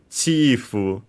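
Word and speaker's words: チーフ: And yeah, accented luckily, like in English on the first syllable, chief.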